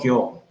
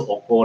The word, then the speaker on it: 行: But just now it's called kyo. It can be iki. But here it's called 行われます。oko 这边这个形字，它的 pronunciation 就是 oko 了。It's not iki, it's not kyo.